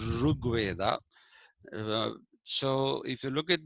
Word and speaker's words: Rig Veda: Okay, for example, the Janapadas that we find in uh, the uh, Rig Veda, actually it is to be pronounced Rug Veda.